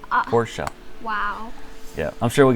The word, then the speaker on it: Porsche: what did they say porsche i know right it's a two syllable award poor show wow yeah i'm sure